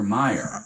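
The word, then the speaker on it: Oscar Mayer: It's Wait, it's it's spelled like M A Y er but it's Oscar Meyer like Right. That's how it's pronounced.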